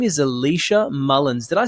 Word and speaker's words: Elisha Mullins: or not here with us her name is Alicia Mullins did I say that last name correct you